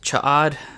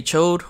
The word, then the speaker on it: Ch'od: As expected, Cha'ad, I'm pretty sure that's the proper way to pronounce it. Some say Chode, which I have said it that way before, but that's deemed as a short penis, so I won't put